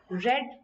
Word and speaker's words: read: सो यहाँ पे read, ये एक्चुअल में इसको प्रोनाउंस रेड किया जाता है, अदरवाइज स्पेलिंग तीनों में सेम रहती है, रीड, रेड, रेड।